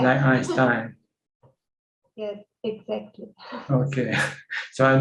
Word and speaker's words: Einstein: t-i-e-n right e-i so you look at the the second syllable which one comes second then that's the one that you pronounce like if the e comes after the eye you say e that's winner yes if the i comes after the e then you see the i yes einstein yes exactly okay